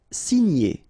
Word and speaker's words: signer: Signer, okay? G and N together, gn.